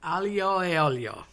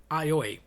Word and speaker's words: aglio e olio: No one says this right. Aglio is garlic. Ajo in Spanish. A as in the letter E pronounced A meaning and and olio uh oil. So, garlic and oil. I have grown up hearing aioli.